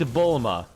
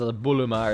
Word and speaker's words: Bulma: Like, they have a character named Bulma, and obviously in Japanese, like, I think they pronounce it as Buluma or something like that, you know.